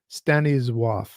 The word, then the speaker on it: Stanisław: Uh Stannis Slav Lem who I think if I remember right from another person telling me in a previous video it's Staniswaf is how you would pronounce it in Poland.